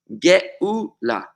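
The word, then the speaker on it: גאולה: pretty much identical words aleph is almost a silent letter gola exile and giula redemption are separated merely by an aleph the first letter of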